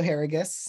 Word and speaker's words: Harrigus: my name is harrigus um no worries about the pronunciation I tell people it rhymes with asparagus um I am this